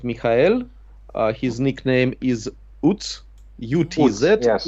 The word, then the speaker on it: Utz: His nickname is Utz, U-T-Z, yes. Utz. He told me that I must pronounce it like Utz.